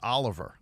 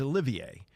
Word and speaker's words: Olivier: The brother, by the way, I pronounced it Oliver. I guess I should know better. He's from France. It's Olivier. And he's been with the Oklahoma City Thunder for 3 years.